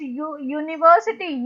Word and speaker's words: university: The word is starting with U, which is vowel, but when you pronounce it, it is university, yeah.